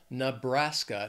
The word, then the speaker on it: Nebraska: Three syllables, stresses on that second syllable. Montana. Montana. Another beautiful state, gorgeous mountains. Montana. Near there is Nebraska. Three syllables, stress is also on that second syllable. Nebraska.